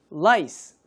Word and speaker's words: lice: lice, lice 이렇게 되죠.